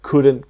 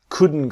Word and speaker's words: couldn't: we couldn't go tomorrow the T is silent so it becomes we couldn't go this is what we